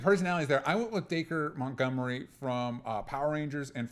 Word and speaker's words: Dacre: it's Dacre Mount. It's Acre with a D on it, so that's how I'm pronouncing it.